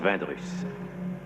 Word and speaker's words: Vindrus: Mon nom se prononce Vindrus.